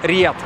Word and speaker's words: Riyadh: Мы находимся в городе Риад. Кстати, иностранное произношение просто Риад, а вот русскоязычно риад.